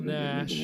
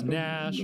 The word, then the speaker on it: Naish: Carrol Naish is or I don't know if it's Nash or it's spelled Naish.